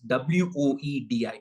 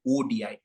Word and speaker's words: ODI: I like how Iman is pronouncing it as WOEDI, as an ODI, which is effectively where we are going to end up after the 3-match series.